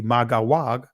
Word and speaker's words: Magog: However you want to pronounce it, but ancient Hebrew would be Magawag, but we see Magog, Madai, Javan, Tubal, Meshach, Tiras, or Tyrus.